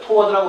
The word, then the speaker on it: toward: 근데 동작적인 느낌을 줄 때 toward를 더 많이 쓰죠. toward라고 발음하기도 하고 toward라고 발음하기도 하고요.